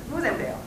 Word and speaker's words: Ruizendaal: I'm going to try to pronounce his last name correctly in the Netherlands way. That is Ruizendaal? Okay, so then now I'm resorting to the American pronunciation. Ruizendaal.